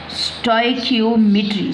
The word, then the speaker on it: stoichiometry: किया जाता है, तो इसको स्टोई की ओ मिट्री, स्टोइकियोमेट्री, स्टोइकियोमेट्री, स्टोइकियोमेट्री इस तरह से इसको प्रोनाउंस किया जाता है।